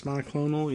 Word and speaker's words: monoclonal: And they're rationing out monoclonal antibodies. Is that how you say it? Yes, monoclonal, yeah.